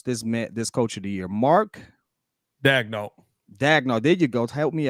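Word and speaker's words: Mark Daigneault: I cannot pronounce this coach of the year. Mark Dagnall.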